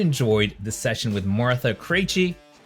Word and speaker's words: Krejci: Guys, I hope you enjoyed this session with Martha Krejci, pronounced like crazy because she's a crazy woman, but she gets stuff done.